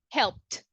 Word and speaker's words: helped: you agree yes yes do we have vibration with the p sound not right no vibration so we will say helped helped pretty good okay who's